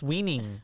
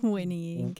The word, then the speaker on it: whinnying: Some horse weaning. What is it? Whinnying.